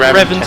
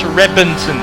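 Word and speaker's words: Reventón: the r it's not revon it's Reventon it's a b it's got a v but it's pronounced with a b and the if you're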